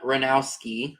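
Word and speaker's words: Hranowsky: So it's sold to Ranowski for $18. Is it or? Spell it. with an O. Like Donald. Okay. And Ranowski. H-R-A-N-O-W-S-K-Y. S-K-Y. Yep, like sky.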